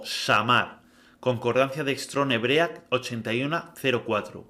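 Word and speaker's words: שמר: Veamos la concordancia de la palabra guardar, pronunciada como shamar, concordancia de Strong Hebrea 8104, que significa guardar, proteger, cuidar.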